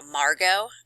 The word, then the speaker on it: Margot: some examples of how margot and that t is silent in that name margot is bullied by